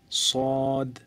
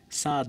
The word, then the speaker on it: صاد: তো আবার ট্রাই করুন থা আলিফ বা তা থা এরপর صاد صاد সাদ না صاد صاد আপনি তারপরে দেখেন শেষের দিকে দাল আছে তো যখন আপনার অক্ষরটা শেষ হবে উচ্চারণ শেষ হবে তখন দ আসবে صاد صاد তারপর বদ বদ তারপর